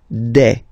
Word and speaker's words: des: Okay, and then the plural form, des. All right, here, s, you pronounce it like a.